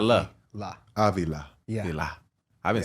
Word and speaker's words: Avila: Avila. Yeah. La. I've been saying it wrong my whole life. Avila. Because I've known these guys forever. So not, but where I'm putting the accent is Avila.